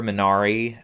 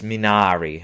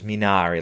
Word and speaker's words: Minari: i mean the father minari or sorry i'm mispronouncing that's minari i've heard multiple sources minari like an italian that's what i'm going